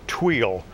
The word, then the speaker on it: tuile: part of speech and definition the word is tuile it's a noun and it's one of the